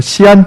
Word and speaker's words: 시안: 최근에 중국 시안, 서안이라고도 하지만 중국 발음으로 시안 지방에 진시황의 무덤이 발견됐죠.